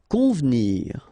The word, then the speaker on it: convenir: Convenir. Okay, so the here is not really pronounced, so first you get this nasal, on, convenir, convenir.